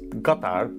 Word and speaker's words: Qatar: Qatar, a country that should be pronounced Qatar, but I'm not gonna be that pretentious guy who shows up trying to like say it in the local pronunciation because it makes me sound cultured and cool. I am that guy. I'm trying to not be that guy. So for now, I'm just gonna say it like a Texas oilman says it, Qatar.